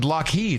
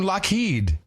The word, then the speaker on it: LED: Walmart yeah I heard I when he said loed I was like wow that is that how you pronounce it am I have I been doing it wrong all these years loed loed is like y Yim LED I used I say LED L it's that's